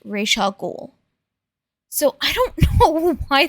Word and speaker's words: Ra's al Ghul: it's gonna continue, is they keep mispronouncing Ra's al Ghul. They keep saying Ra's al Ghul, which, correct me if I'm wrong, in all of the DC stuff that I've seen that has the Al Ghuls in it, it's always been pronounced Ra's al Ghul.